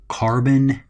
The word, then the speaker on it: carbonyl: Now, this is pronounced carbonyl.